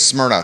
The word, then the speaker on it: Smyrna: right across the street how do you say the name of this new restaurant s-m-y-r-n-a yeah it's smyrna yeah it's a greek city it's a city in greece smyrna okay so the